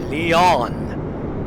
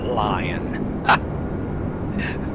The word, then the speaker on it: Lyon: And I am in the airport that I landed last night, Lyon. That's how you pronounce it, but I call it Lion.